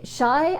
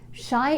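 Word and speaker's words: Shih: So the very first card today is shy. I want to say shy, and I think it's a silent H.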